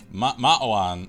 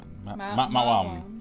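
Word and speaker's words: Maoam: All right, so it's Ma'awan. No, Ma'awam.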